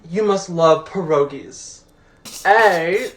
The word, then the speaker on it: pierogi: person's culture pierogi and you guys also have the audacity to pronounce it pierogi it's pierogi say it with me